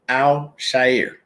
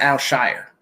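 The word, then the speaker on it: Aziz Al-Shaair: aziz alzheimer and people you gotta say his name al shair it's not al shire okay it's not s-h-i-r all right you just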